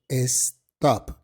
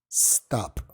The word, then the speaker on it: stop: A veces como hispanohablantes tendemos a poner una E enfrente de la S y decir stop, pero no es stop, es stop.